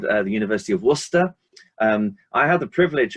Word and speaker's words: Worcester: my university uh and he was going warcaster work at warcaster and i i said it's worcester and this guy looked